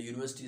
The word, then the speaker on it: university: can see again the university starts with the sound i mean with the letter u but it has a consonant sound that's why we don't see any university we say a university so now here you